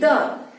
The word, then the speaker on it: the: बता दूं कि द, ये जो द है इसका यूज जब हम वॉवेल वर्ड के पहले करते हैं, तो जब हम इसका यूज वॉवेल वर्ड के पहले करेंगे तो इसको हम कैसे प्रोनाउंस करेंगे? इसको हम लोग कहेंगे दी। इसको हम कैसे कहेंगे? दी।